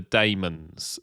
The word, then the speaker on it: Daemons: demons yes and and just to be clear either is perfectly acceptable because they can't even decide within the serial how to pronounce it well I go by there the scene where per we says they're demons from the planet damos exactly demons he he really emphasizes the mons as well deons from the planet damos